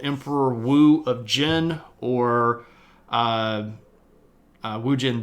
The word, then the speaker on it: Wu: Emperor Hu again? This was Emperor Wu. Spelled like so.